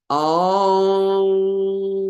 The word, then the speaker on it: Om: The sound Om is created in the inner chambers of the sinuses and the upper palate, like a conch. It's made with the air coming through the nose. The NG sound is emphasized. The lips are firm while chanting Om. So it's Om, lips come together firmly, and the sound is actually in the sinuses.